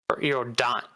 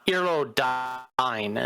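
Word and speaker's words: Erudine: Eerodine. Erodine is actually how it's pronounced.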